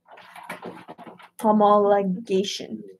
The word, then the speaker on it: homologation: Homologation or homologation? homologation. That's how you pronounce it.